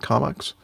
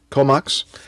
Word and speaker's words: Comox: Is that the way you pronounce that? Comox? Comox.